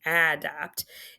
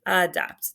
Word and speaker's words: adapt: It's not saying adapt, it's saying adapt. That is a schwa, and this is an open syllable exception. That's your A, Alaska, Dapt is short vowel, closed syllable.